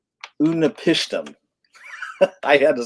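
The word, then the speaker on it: Utnapishtim: It's Unapishtim. I had to spell it out so I get it right.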